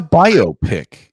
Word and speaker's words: biopic: Is it like myopic? It's not it's biopic. It's a biopic. It's a bio picture, biographical picture. Yes. Will you please say it that way? Biopic.